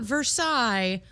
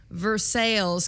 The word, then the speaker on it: Versailles: little town of not versailles versailles kentucky it's it's spelled like versailles but it's pronounced american yeah so uh we